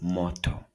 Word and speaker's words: moto: O like in so an example is moto.